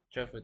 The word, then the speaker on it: chauffeur: The krill monitors Andrew on his way to and from home at his ch can't pronounce that chauffeur chauffeur thank you English and French